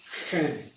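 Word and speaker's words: חן: And the Hebrew word for that is pronounced chen.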